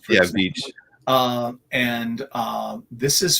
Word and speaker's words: Veitch: I never know how to pronounce Veitch. Yeah, Veitch.